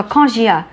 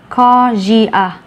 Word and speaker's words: nausea: A với U thì luôn đọc là O. Vậy không, mình không đọc là automatic mà mình đọc là O. Co. Và S này bị kẹp giữa hai nguyên âm cho nên biến thành âm J.